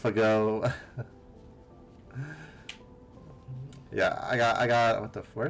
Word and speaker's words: FGO: FGO, pronounced Fago.